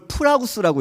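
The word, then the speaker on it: πραΰς: 이걸 프라우스라고 읽는데 이게 신약 성경에서 기록된 헬라어입니다.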